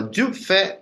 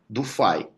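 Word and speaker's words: du Fay: Não é Dufay, tá? O meu professor de eletromagnetismo falou Dufay, fala Dufay, que é a pronúncia francesa adequada disso.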